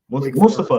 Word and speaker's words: Mustafa: mafah I think I say his name mu Mustafa mustfa there you go Mustafa Malik Mustafa from